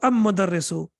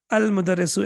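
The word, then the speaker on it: المدرس: Al-mudarrisu or am-mudarrisu? Al-mudarrisu, excellent. Al-babu or ababu? Ababu doesn't even make sense, right? It's difficult to pronounce it even.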